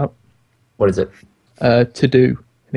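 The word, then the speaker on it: Teux Deux: favorite is IOS app what is it uh to do and it's spelled t-e-u-x-d-e-u-x it's a to-do list it's by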